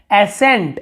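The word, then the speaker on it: ascent: यहाँ पर भी देखिए एसेंट, एसेंट यानी होता है चढ़ाई, एसेंड, एसेंट, लेकिन यहाँ पे सी का उच्चारण कहीं पे नहीं हो रहा, हम स का उच्चारण कर रहे हैं।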